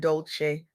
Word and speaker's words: Dolce: I'm Dolce, pronounced dolce like sweet softness whispered in French.